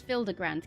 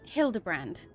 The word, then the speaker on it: Hildibrand: Since parting ways, I've searched every alley and dive bar in Everkeep for signs of this Filder Grand character. It's pronounced Hildebrand.